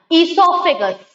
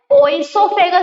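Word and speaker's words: oesophagus: Okay, the food pipe, ईसोफेगस, हम इसे ओइसोफेगस नहीं बोलेंगे क्योंकि ओ है, ओ साइलेंट है, ओ का साउंड नहीं आएगा।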